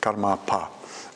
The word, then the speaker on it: Karmapa: a short passage where he referred to himself as Karmapa, with a long A there, Karmapa.